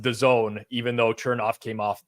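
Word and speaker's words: DAZN: D A ZN oh sure sure sure but pronounced the Zone even though turnoff came off the other night and called it dazin dazen um by the way I just is he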